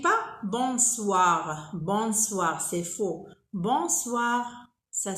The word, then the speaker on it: bonsoir: Bonsoir, bonsoir. On ne dit pas bonsoir, bonsoir, c'est faux. Bonsoir, ça s'écrit bonsoir, mais on dit bonsoir. On ne prononce pas le N.